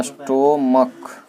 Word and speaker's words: stomach: हाँ स्टोमक, स्टोमक ऐसे होता है, शायद ऐसे ही ना होता है। हाँ स्टोमक, ये जो अंत में च नहीं होके क्या होगा, ये इसका उच्चारण क होगा।